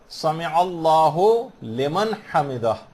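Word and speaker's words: سمع الله لمن حمده: عام طور پر لوگوں کو دیکھا گیا سمع اللہ لمن حمدہ یہ پڑھتے ہیں، اس کو ہو لمن نہیں ہے، سمع اللہ لمن حمدہ.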